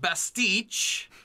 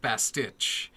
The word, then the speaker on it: bastich: related note is that it is pronounced bastich not bastiche he did get it by that last episode of Krypton season two but still uh I I cringed every time he said best teach instead of bastich uh